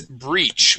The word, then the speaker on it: breach: First off, this word here is breach with a long E sound.